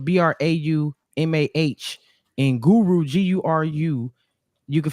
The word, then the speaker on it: Braumauh: So it's different because it's Braumah. It's like trauma, but with a B and the H at the end.